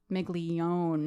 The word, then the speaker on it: Migone: Carmela I love it Mrs migone or migon it's migon as we learn we